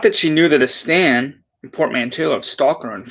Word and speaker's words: stan: Not that she knew that a stan, a portmanteau of stalker and fan, actually was, which explains why she pronounced it stand.